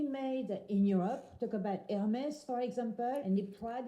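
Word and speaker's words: Hermès: So we don't say Hermes. No, we don't. We say Hermes Louis Vuitton Christian Chanel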